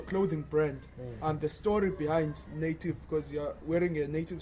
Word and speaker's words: Native: But how you pronounce Neitiv, because umuntu mebona Neitiv angathi natives. Yeah, you understand? Yeah. Of which that's not how you call the name.